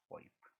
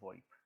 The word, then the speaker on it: VoIP: voice over Internet Protocol voiceover and protocol is usually pronounced in three ways namely VoIP over IP and just wipe i will be using